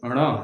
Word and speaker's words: ण: झ य यह भी नासिका से उच्चारण किया जाता है ट ठ ड ढ ण ये बहुत से लोग यह ट वर्गी ट वर्गी न बोल देते हैं न नहीं हैय ण ण कहने का अर्थ हुआ